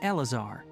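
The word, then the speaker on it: Eleazar: with a disease called elazar you say it just like it's spelled yes it's a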